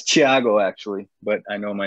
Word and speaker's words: Thiago: Yeah, it's Thiago actually, but I know my name is difficult to pronounce. Thiago.